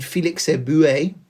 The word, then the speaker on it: Félix Éboué: De Gaulle persuaded Félix Éboué, that's almost certainly how it's pronounced, who was the governor of Chad, to switch his support to General de Gaulle from the Vichy France.